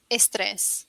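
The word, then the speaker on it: estrés: palabra right word stress estress right you say estres so you would say there's always the e in front of the stress but that's how it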